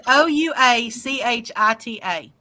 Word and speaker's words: Ouachita: Won't you just spell it? It's Ouachita.